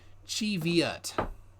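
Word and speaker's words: Cheviot: I think he goes Shiva is often mispronounced the actual pronunciation is Chi Viet I know this because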